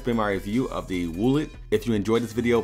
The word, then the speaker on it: Woolet: So that has been my review of the WOOLET.